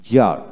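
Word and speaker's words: czar: যেমন সি জেড আর, জার, জার, সি উচ্চারণ হলো না।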